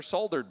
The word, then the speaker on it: solder: I'm not a professional coder, and I've never soldered before. And he said, it's pronounced solder. And I'm like, why did they spell it with an L in it?